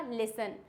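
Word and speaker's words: listen: लिस्टन पढ़ रहे थे जब मैंने उनको बताया लिस्टन नहीं होता है दो-तीन बार में उनको ये मिस्टेक मैंने करेक्ट कराई है जब मैंने उन्हें बताया है कि यहां पे टी क्या होता है साइलेंट तो क्या हो जाएगा लिसन ऑफर ग्लिसन क्या हो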